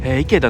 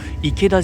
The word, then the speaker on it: 池田: はい、そう、池田じゃないんですよ、池田ってね、こっちでは発音します。